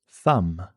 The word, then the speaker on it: thumb: Thumb. A silent letter B.